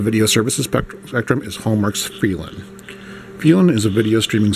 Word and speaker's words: Feeln: Now, the big differentiator between Feeln, as it's pronounced, it's spelled F-E-E-L-N, Feeln and the other studios, is that its content is geared towards feel-good movies and shows.